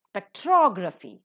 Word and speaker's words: spectrography: first syllable is accented spectrography the second syllable is accented why because the rule of it says that the words that are ending with graph and graphy graph has got one syllable graphy itself has got two syllables so automatically third from the last the stress has to shift the same logic applies